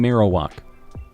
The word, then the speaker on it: Marowak: how you say it though Ros uh and marow walk oh you want to say marow walk okay I'll start saying Marowak I know how much you guys like that